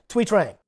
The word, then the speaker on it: Trang: How do you pronounce the name of the Yellow Ranger that replaced her? Trang.